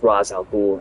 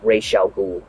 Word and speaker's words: Ra's al Ghul: In one universe, it's pronounced Ra's al Ghul, and another one, it's pronounced Ra's al Ghul.